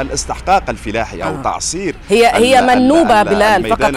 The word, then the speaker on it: منوبة: أيضا هي مدينة ذات طابع فلاحي، مدينة ذات طابع فلاحي، وبالتالي الاستحقاق الفلاحي أو تعصير هي منوبة. بلال، فقط حتى نؤكد النطق الصحيح لمشاهدينا، منوبة. منوبة، نعم.